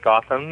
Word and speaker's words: Gotham: television a lot and nobody could ever pronounce my name and I've always pronounced it as Gotham and so um you